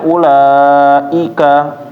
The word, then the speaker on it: أولئك: Terus ketika membaca ulaika, i-nya dijelasin ya. Jangan cepat-cepat masuknya. Jadi i-nya kurang jelas. Ulaika ika humul, ulaika humul, tapi keluarnya di bawah ulaika i, benar-benar i ya.